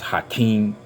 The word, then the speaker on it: Hakim: search bar, put in Hakim. You're going to put both names together, and I know in Arabic it's pronounced Hakim.